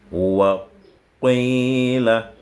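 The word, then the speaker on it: وَقِيلَ: Avant de prononcer qi, tu tends d'abord les lèvres. Wa qila. Wa ji'a.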